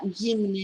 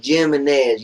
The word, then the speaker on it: Jimenez: It's not Jimenez. It is Jimenez. You can't read? Jimenez. It's J-I-M. It's Jim-E-N-N-E-Z. It's pronounced like an H.